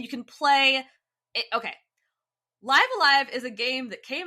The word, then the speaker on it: Live A Live: I checked because I'm reviewing it for IGN and I have to do a voiceover for a script and I better say it right or the comments are going to be mad. It's Live Alive.